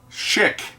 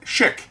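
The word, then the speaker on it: Schick: gets jolted I said shik as in the company that makes razors shik not the one that ends with te but shik rhymes with ship I said shik not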